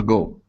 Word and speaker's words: goal: So here you're pronouncing an oo, saying go. Okay. Go. Go is like, hey, go, go, go. Okay. It's go. Get out of here. So instead of ending with an oo sound, you need to pronounce an L. So move your tongue up to the top of your mouth, and it's goal. Goal. There you go. That's the L sound.